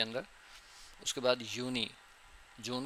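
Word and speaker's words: Juni: अब जो यूनी है या फिर यूली है यह इसकी प्रोनाउंसिएशन दोबारा देख लें।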